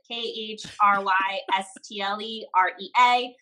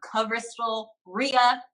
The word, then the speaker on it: Khrystle Rea: So Instagram, Khrystle Rea. My name is spelled crazy complicated. KHRYSTLEREA. Sounds like Khrystle Rea. It's Khrystle Rea.